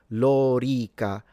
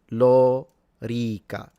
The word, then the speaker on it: lorica: Then he said the sword, the armor would be lorica segmentata. So both the O and the E are long. There he is. Lorica. Lorica. So it's not lorica.